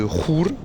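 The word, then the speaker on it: Chur: J'arrive du côté de Ruhr. Je pense que c'est la prononciation suisse-allemand, mais en France, on dit Coire, je crois.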